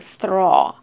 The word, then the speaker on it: throw: This is long or, so throw, throw. You remember, like, when A with L, usually we pronounce long or, throw. Just like core, tour, small, shopping mall, huh?